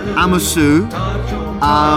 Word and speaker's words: amoso: Amosu. But it's spelled amoso, so give me a break.